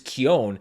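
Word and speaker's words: Keoghan: interviews with him where his name was pronounced kind of the more traditional Irish way which is Kion so I started saying Barry Kion but then I found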